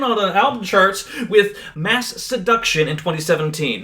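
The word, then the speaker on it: Masseduction: the album charts with Mass Seduction in 2017. Not to be confused with Mass Education cuz that's what everyone says it even today.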